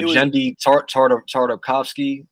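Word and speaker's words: Genndy Tartakovsky: He was always like, yo, the Jendi Tartakovsky.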